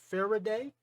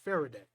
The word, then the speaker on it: Faraday: has came to earth his name is farah day and then that's how you pronounce it faraday now he's been sent